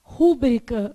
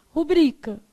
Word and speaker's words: rubrica: Então, por exemplo, a gente quer falar rúbrica, mas o correto é o quê? Rubrica.